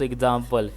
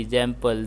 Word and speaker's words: example: The stress is on the second syllable.